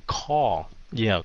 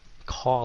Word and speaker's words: kho: Xích phát âm dùm từ kho. Kho, vậy thôi. Kho là như thịt kho vậy đó.